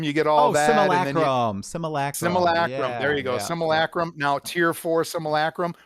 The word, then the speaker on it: Simulacrum: Simulacrum.